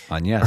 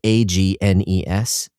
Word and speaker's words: Agnès: And uh in that game her name is is spelled A G N E S. So, I you know, just reading it, I thought it was Agnes.